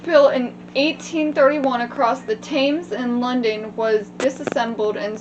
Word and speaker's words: Thames: Thames. The H is silent. Of course it is. The fucking English language. Where did it go? Right A there. bridge built in 1831 across the Thames in London was disassembled and sold in 1967.